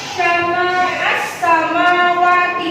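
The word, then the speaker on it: السماوات: Jadi alnya itu tidak terdengar, tidak kelihatan, tapi melebur ke huruf yang setelahnya. As-samawati, ada al tapi seperti tidak ada alnya, karena alnya asyamsiyah.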